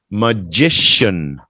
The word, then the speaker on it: magician: talking about the person that CH turns into a s h so it would be spelled like this magician can you say that Jason Jason magician again Jason it's like a little D in here too a little D in there too magician uh Glory magician